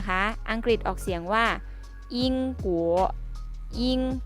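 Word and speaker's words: 英国: มี อังกฤษ นะ คะ อังกฤษ ออก เสียง ว่า ยิง ผัว ยิ่ง กู โอ๋ ทบ ทวน อีก ครั้ง นะ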